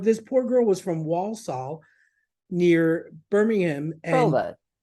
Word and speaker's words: Walsall: poor girl was from Walsall near Birmingham and Walsall and I just couldn't say it right you know spell it w-a-l-s-a-l-l oh it feels like it's almost like also when I asked her